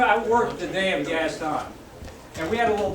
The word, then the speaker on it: Gaston: And she got it in my head, I couldn't think of the correct pronunciation. Yeah, Gaston is the way we always pronounce it.